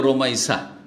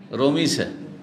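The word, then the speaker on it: রুমাইসা: ওই রকম রোমাইসাকে রমিসা, তাই না, বিকৃত নাম রোমাইসা, এই নামটি এসছে বিভিন্ন বর্ণনায়।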